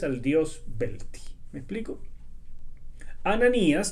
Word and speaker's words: Ananías: Ananías, que se pronuncia en realidad Hananías, significa Yahweh ha mostrado